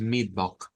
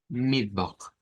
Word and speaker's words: Mittwoch: Es el único que se pronuncia sin el Tag. Y decimos Mittwoch. Esa X, recordar que es una Mittwoch, Mittwoch.